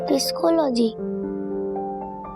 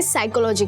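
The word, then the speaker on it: psychology: PSY पिस्कोलॉजी। दीदी, ये पिस्कोलॉजी क्या होता है? क्या? पिस्कोलॉजी। किट्टू, वो पिस्कोलॉजी नहीं होता है, पी साइलेंट होता है, इसे साइकोलॉजी कहते हैं।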